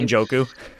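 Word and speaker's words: Njoku: Uncle Jewel I could never say his name joku thank you um that play alone like that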